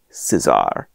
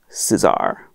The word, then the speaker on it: César: people and the the people at the company pronounced it Cesar so that's how I'm going to pronounce it Cesar Cesar is a classic mask manufacturer in the